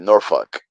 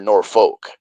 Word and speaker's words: Norfolk: It's Norfuck." I go, "Yeah, it is. The L is silent." Norfolk. It's Norfuck. Norfuck. Norfuck. Or or or Norfolk. Right. But I say Norfick, like more of an E sound.